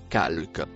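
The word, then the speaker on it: خلق: Le troisième mot en rouge se prononce calque.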